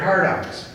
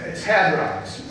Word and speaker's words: hadrons: And then you also have leptons or gluons, and then my favorite, hardons. Oh, I'm sorry, I mispronounced that. It's hadrons.